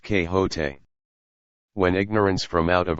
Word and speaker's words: Quixote: misfortune to know that the gentleman's name is pronounced que hote when ignorance from out